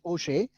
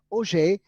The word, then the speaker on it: Auger: by bruno rossi and auger and normally the name has been pronounced as oshei o'shea even today we have